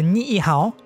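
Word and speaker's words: Niʻihau: what i could find the way to pronounce it the ni'ihao incident occurred during the days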